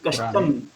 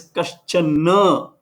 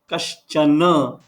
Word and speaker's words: कश्चन: You said kashchan. There is no kashchan here. It is kaschana. Na is to be pronounced full. Kaschana.